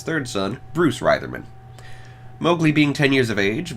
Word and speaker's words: Mowgli: grown into Mowgli actually Rudyard Kipling intended the name to be pronounced Mowgli but thanks to this film I don't think even Andy Serkis is more faithful adaptation from last year could be bothered pronouncing it Mao Lee yeah Mowgli is depicted